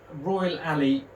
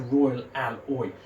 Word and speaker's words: Royal Alloy: Now, yes, Royal Alley isn't a Royal Alley, it's a Royal Alloy.